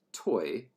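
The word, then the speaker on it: toe: Let's make the word for metal T-O-E, pronounced toy, in Haugauf, so that the word for metal dog was toy dog, or toy bram.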